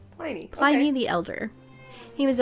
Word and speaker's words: Pliny: They said Pliny. Pliny Okay.